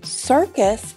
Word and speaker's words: circus: The word circus is another example of this. The first C is a soft C with the S sound, and the second one is a hard C.